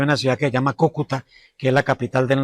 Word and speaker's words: Cúcuta: Incluso en Madrid no pronunciaban bien el nombre de la ciudad porque decían Cucutá y lo llegaron a confundir con Calcuta.